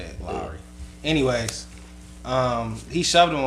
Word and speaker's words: Lowry: Yeah, right, that's how you say it, Lowry. Anyways, he shoved him or whatever, and the headlines were saying like, you know, this is what happened, but they depicted as Kyle Lowry being Lowry.